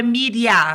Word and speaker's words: Miria: O meu é Miriam. Pode ser tipo Maria, só que é Miriam.